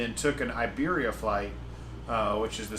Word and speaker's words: Iberia: Madrid Airport the Iberia if you want to do the Spanish pronunciation Iberia Airline terminal is like